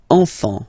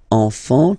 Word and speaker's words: enfant: Don't pronounce the T, you don't pronounce the S.